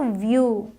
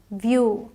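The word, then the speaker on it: view: एफ यू L full अब यहां ई डब्लू यू करके पढ़ेंगे ना तो व्यू वी आईई डब्लू व्यू समझ में आया आपको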